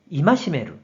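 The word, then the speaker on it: 戒める: 그래서 경계할 개가 되었고 뜻으로는 이마시메루, 음으로는 카이로 각각 발음한다고 설명드렸어요.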